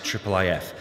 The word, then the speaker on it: IIIF: an overview of this, which we usually pronounce as IIIF.